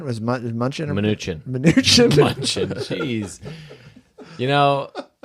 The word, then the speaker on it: Mnuchin: Munchin? Was Munchin? Or Mnuchin.